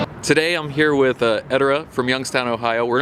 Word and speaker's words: Edorra: That's how you pronounce Edorra? it. Yeah. It's Edorra. That's Edorra. All right.